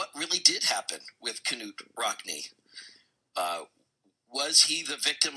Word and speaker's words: Knute: And I am pronouncing it right when I pronounce it with the K, because that's how the Norwegians do it. Am I right or wrong on that? That is correct. Okay. Knute, yep.